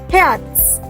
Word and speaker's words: Herz: Remember, R is air, and in the pronunciation of Z, you have to put the T as well. So what will you say? Herz.